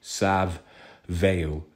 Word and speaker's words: Savile: there because in truth, as I pronounce his name, it's Jimmy Savile, as in Savile. He's a very vile man.